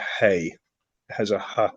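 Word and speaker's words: ἡ: of that feminine article did you say it was hey hey yeah yeah hey see it's got a rough breathing on it yes yeah so it's hey has a ha sound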